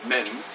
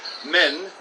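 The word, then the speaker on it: مَن: But this is men. The pronunciation is also different. Men, and this means who. Who. And this is min, and it's usually translated as from or of.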